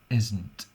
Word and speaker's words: isn't: Isn't, com la S de casa, o com la S de cosí, o com la Z de zero. S sonora.